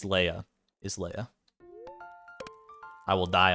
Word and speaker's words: Leah: mean that's very true if you want to pronounce it Leah I'm not going to stop you I'm just telling you it's Leia for me from for my purposes it's it's always going to be a Leia but if you want